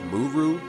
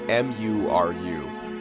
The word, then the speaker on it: Muru: That page ends with Cross saying, so wait, this is Muru? And it's spelled like M-U-R-U. So Maru, Muru, one of the two.